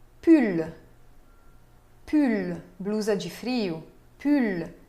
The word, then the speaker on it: pull: Pull. Sim se pronuncia o L final.